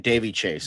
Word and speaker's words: Daveigh Chase: So Uh I think you say I I think it's pronounced Daveigh Chase. Yeah, Daveigh Daveigh Chase. I looked it up.